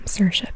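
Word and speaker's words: Saoirse: have sersa Ronin and I know I know that's actually how you say her name sersa because I've seen it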